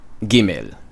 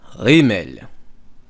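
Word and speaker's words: גימל: So with or without it, it's gimel in modern Hebrew. I pronounce it rimel. It is more Semitic.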